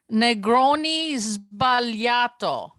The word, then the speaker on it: Negroni Sbagliato: It's Negroni Sbagliato. Sbagliato. Negroni Sbagliato.